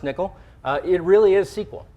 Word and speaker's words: N1QL: a nickel query nickel uh n1ql and it's pronounced nickel uh it really is SQL so it is